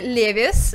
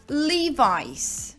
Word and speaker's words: Levi's: вы произнесете этот бренд да и это никакой не levi's да этот бренд правильно произносится лего есть этот бренд так